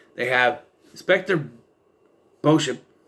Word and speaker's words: Beauchamp: It's Beauchamp. He calls him Inspector Beecham. It's Beauchamp. You can see it right there. It's Beauchamp. I know because I watched Teen Angel. The character's name is Steve Beauchamp. Spelled the same way. It's not Beecham.